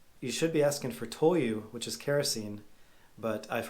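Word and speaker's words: 灯油: and ask for you should be asking for toyu which is kerosene but i've heard a foreigner saying tonyo so you have to be careful with the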